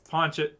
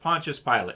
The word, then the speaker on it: Pontius Pilate: say that I would say his name his name wrong punch it Pontius Pilate yeah so he was the governor at that